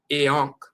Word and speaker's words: iankh: That is pronounced I. So instead of enk, you have I and then I and together is eonk.